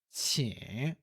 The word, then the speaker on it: 请: O por favor é a primeira sílaba. 请, 请, terceiro tom.